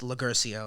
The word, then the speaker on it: Loguercio: I just tell people straight up, like, just don't worry about, you know, pronouncing the last name the right way. Just Loguercio is fine.